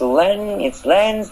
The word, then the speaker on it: Lens: And 20th, it's Lens. The S is silent, and so are their fans after they have found themselves in last with 11 points.